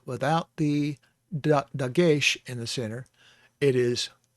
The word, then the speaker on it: dagesh: does not have a dog-ish in it okay okay if it has a dog-ish in it uh dagesh not doggish but dakesh in it